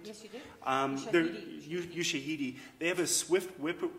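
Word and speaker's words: Ushahidi: uh computer human interface like um i know you shahadi did i pronounce that right yes you do um you shahidi they have a swift whip swift river application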